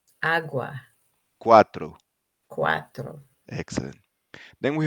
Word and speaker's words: agua: cambiar, Then we have ua, pronounced like the wa in wag. wag. Yeah. Cuando, Cuando, agua, agua, cuatro.